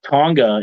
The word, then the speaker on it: Tonga: bloodline you know uh we just saw uh Tonga is that how you say it yeah okay